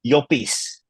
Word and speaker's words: Llopis: Ruth Llopis. The double L makes a Y sound, and it's Ana Alarcón.